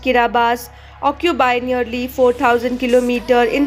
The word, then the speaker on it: Kiribati: The 33 atolls that make up Kiribati, pronounced Kiribati, occupy nearly 4,000 kilometers in the equatorial Pacific from east to west and more than 2,000 kilometers from north to south.